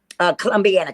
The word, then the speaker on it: Columbiana: Columbiana County. Columbiana.